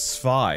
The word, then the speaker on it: Zwei: The comment is, notice you pronounce the German word Zweihander with the English Z. As a German, I cringe whenever someone pronounces words in the wrong language. Can you pronounce the Z as a TS as Germans do? Admittedly, this is for a